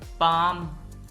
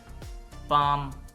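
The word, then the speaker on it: palm: AIIMS खैरात काम स्कून पाम ये लज पाम है इसमें और काम में एल साइलेंट है पाम हथेली छोड़ना या तक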